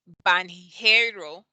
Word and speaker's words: banheiro: include it here but when you have n and an h it makes the yeah so the h makes it sound like there's a y in there so instead of banheiro you would say okay